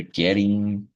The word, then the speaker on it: getting: Getting, como se fosse o som de R. Muitas vezes isso acontece no inglês, tá? Principalmente com a letra D e T.